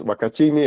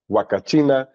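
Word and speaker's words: Huacachina: this is the Oasis wachini as wakina sorry I have to pronounce that correctly wakina it's in the the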